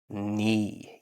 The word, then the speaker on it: knee: number 6 here, and it has a silent K at the beginning of the word. This is the leg, and it's in the middle of the leg. It is the knee.